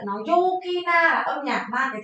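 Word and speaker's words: 陽気: Chữ dương đi với chữ khí đọc là Yuki.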